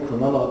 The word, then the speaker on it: Cronulla: It took my mum a while to pronounce it correctly. She was calling Cronulla the Quran of Allah.